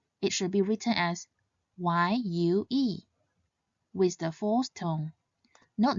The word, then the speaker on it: yuè: However, when writing the pinyin for yue, it should be written as yue with the fourth tone.